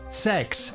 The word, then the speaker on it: CeX: Sex, I know, but it's spelled C E X.